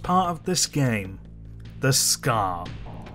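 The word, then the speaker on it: Skaarj: The Scar. Spelled S-K-A-A-R-J, but apparently pronounced like Scar.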